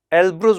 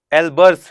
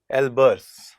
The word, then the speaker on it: Elburz: था, और पढ़ा था एल्ब्रुज मैंने बोल दिया था। उसका जो स्पेलिंग है वो है ELBURZ, Z या S ऐसे है। तो ये बेसिकली एल्ब्रुज नहीं है बिल्कुल, बल्कि एल्बर्स है, ठीक है, एल्बर्स।